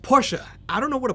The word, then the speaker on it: Porsche: And yes, it's pronounced Porsche.